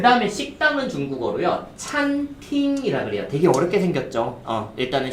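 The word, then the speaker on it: 餐厅: 이게 그냥 이거는 억지인데 약간 외우기 쉽게 하려면은 식당에 들어갔는데 그릇이 있어서 한번 찼어요. 그러니까 갑자기 팅 하는 소리가 났다라고 생각하시면서 뭐 이건 너무 억지긴 하지만 찬팅 발음 시작.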